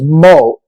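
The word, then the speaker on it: Moe: pronouncing your name correctly my name is mo m-o-e the e is more or less silent oh okay okay okay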